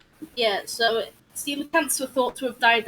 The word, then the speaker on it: coelacanths: Well, I mean, there's people who name their kid Cole, and they spell it Cole. So... Yeah, fair. Yeah, I'm pretty sure they're called coelacanths.